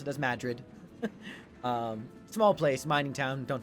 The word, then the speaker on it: Madrid: technically it's spelled Madrid but all the locals pronounce it as Madrid small place mining town don't suppose anyone's heard